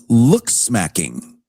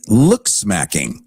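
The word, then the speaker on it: looksmaxxing: It's called look smacking and I'm going to spell it for you. L O O K S M A XX I N G looks smacking as in maxing your looks.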